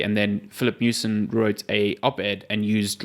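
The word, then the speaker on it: Miucin: Yeah, Mewson, not Mewchin like I thought.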